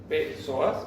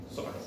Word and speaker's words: psoas: Es lo mismo que escribir psoas, P psoas, pero se dice psoas.